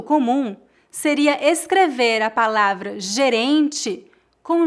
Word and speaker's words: gerente: Gerente, gerente, gerente. Lembre-se que tanto o G quanto o J têm este mesmo som, G. Um erro muito comum seria escrever a palavra gerente com J no começo e com I no final.